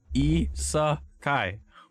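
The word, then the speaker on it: 異世界: Nobody knows how it's properly pronounced, alright? Mm-hmm. But Yeah, those are words. At this point, yeah, exactly. It's just Isekai. Isekai.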